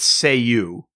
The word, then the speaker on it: Cei-U: It's CEI-U, and you pronounce it say-you.